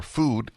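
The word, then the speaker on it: Füde: allowed the Fuda or food f-u-d-e but pronounced as food it's got an umlaut two dots over the U the food dinner experience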